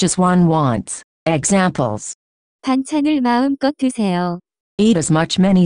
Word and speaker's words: 마음껏: As much as one likes, the pronunciation of this word is closer to 마음껏.